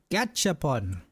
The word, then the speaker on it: Gashapon: Nintendo's new Gashapon toy. Is that how you say it? Gashapon? Gashapon? I think so. It's like gotcha, but gasha. Gashapon.